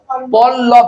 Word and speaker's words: পল্লব: আছে দুটো আমরা একটার উচ্চারণ করে না দুটার উচ্চারণ করি একটা কই একটা করি এরকম পলব বলি না পল্লভ বলি পল্লব তাহলে প এলা উচ্চারণ